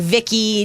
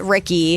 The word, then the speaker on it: Ricky: difficulties you know um everybody always says i'm saying vicky nicky anything but ricky right and they look